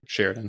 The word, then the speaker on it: Sheridan: Is that how you say it? Yeah. Sheridan. I've always wondered that. It's like Sheridan, Sheridan. Sheridan. At least it's the way like Wyoming people say it.